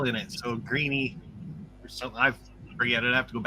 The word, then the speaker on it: Greeley: I've always said Greenlee, Colorado, and it's Greeny.